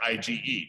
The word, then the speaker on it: IgE: a job to do one type is called ige pronounced ige just like its spell sometimes parasites such as